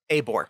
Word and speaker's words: Abor: end amari abhor a it's long a abort oh it's a long a okay amari abor get